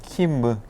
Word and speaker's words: Kim: 가면 킴 네, 하면 킴인데 킴 여러분 김이라고 발음하면 그 사람이 못 알아들어요. 이탈리아어는 밑받침을 잘 못하기 때문에 킴무 이렇게 안느, 뭐 킴무 이런 것처럼 한국의 코레아의 킴무 그가 소개해서 왔다 그러면은 좋아하겠다.